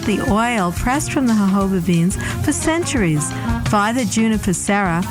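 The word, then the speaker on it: jojoba: of the desert hoba is spelled j o j o ba but is pronounced according to its Spanish Origins the hoba plant grows in the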